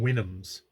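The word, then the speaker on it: Houyhnhnms: in uh further chapters i will use the pronunciation wynnums which is apparently apparently where i'm where you're you're supposed to get the pronunciation for these horse creatures that um gulliver they'll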